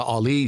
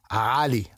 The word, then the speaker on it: Ali: That's the, you know, they saw Ali, so I'm Ali. So there's, you know, there's an emphasis on a different syllable, as they say.